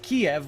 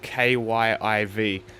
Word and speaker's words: Kyiv: And also no one anymore says Kiev, which is the more Russian pronunciation of Kyiv.